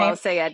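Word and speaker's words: El-Sayed: By the way, I heard Abdul Al-Sayed, is that how he pronounced his name? Al-Sayed, yeah.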